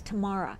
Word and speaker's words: Tamara: It's Tamara. Tamara. Let's ask Tamara. All right. It sounds like I'm saying tomorrow.